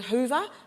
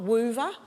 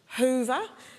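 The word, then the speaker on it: Whova: out our conference app called Hoover not Weaver Hoover our silent W as I discovered now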